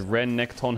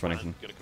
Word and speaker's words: Renekton: Well, we just said Ren Nekton had two syllables. No, it has three syllables, Renekton.